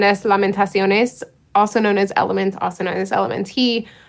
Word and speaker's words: LMNT: kind of way have informed me that it's pronounced element which we didn't get um yeah so i